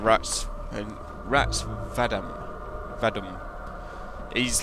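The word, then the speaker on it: Rtas: Right, so I looked up, and his, I don't know how to pronounce his name, it's like R-T-A-S, it's like Rats, and Rats Vadum, he's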